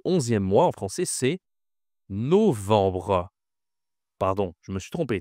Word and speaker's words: novembre: Attention, ici à la nasale enbre. Vbre. Ici c'est no novembre. Bon français je pense disent novembre ici mais on n pas le ha accent circonflexe. On a juste un ha normal.